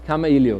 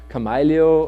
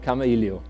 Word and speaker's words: Kamailio: first it is pronounced Camry leo not as many do like Khmer leo or something like that it's actually a Hawaiian word and meaning having a conversation so it's called Camry leo and it's not only